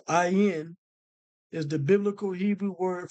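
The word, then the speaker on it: עין: Okay, so now the ayin in Hebrew, the Hebrew noun ayin, pronounced ayin, is the biblical Hebrew word for both eye and spring.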